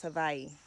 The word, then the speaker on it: Hawaii: You may or may not know, Hawaii is actually not pronounced Hawaii. It's the W is a V. It's pronounced as a V, so it's Hawaii.